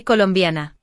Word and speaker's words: colombiana: To say I am Colombian, we say soy if male and soy colombiana if female. Again, there are no accents, so the stress naturally falls on the second to last syllable.